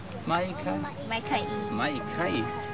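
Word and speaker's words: maikaʻi: Maikai.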